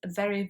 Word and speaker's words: very: So the letter V in English is always pronounced as a V with a V sound. And some nationalities tend to pronounce words like very with a W sound because they get confused between the V and the W.